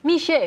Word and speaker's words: Mixue: Ini bacanya gimana sih Sarah? Mich.